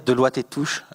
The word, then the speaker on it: Deloitte et Touche: Regardez Deloitte et Touche, je prononce à la française, ils ont caché le fait qu'ils avaient été piratés.